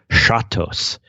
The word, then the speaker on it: chatos: call these chateaus and he pronounces these let's see sha as in like hugo chavez and tos as in risottos so be i guess chatos chateaus can be translated